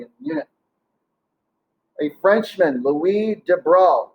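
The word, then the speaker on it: Louis de Broglie: the unit a frenchman louise de bruyne looks like the probably but it's french and i don't take french but i'm pretty sure that's how you pronounce it but we de bro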